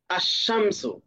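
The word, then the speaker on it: الشمس: যেমন শিন, এর শুরুতে আলিফ লাম আসলে আশামসু, এখানে লাম আছে মাঝখানে কিন্তু লামের কোনো উচ্চারণ নেই, এটা সাইলেন্ট আছে, বরং লামের পরবর্তী শব্দের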